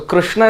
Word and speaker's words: Krishna: So Krishna is considered to be a very interesting formation of syllables. It's ka, but it's not kru, it's not kri, but it's kr. And it is not sa, it is not sha, it is sha.